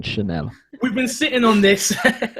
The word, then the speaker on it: Chanel: That's the proper pronunciation, Chanel.